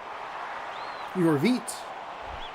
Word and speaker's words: Yorvit: Yorvit. Give it a little more enthusiasm on that second syllable.